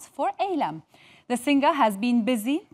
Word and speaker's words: Eylem: Actually, is it Eylem or Eylem? It's Eylem. It's spelled with an E, but it's pronounced with an A.